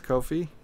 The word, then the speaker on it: Kofi: it the first time was Kofi like Kofi Onan I'm kind of struggling